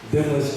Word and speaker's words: Demnlus: Demnlus, the third, pronounced Demnlus without the N.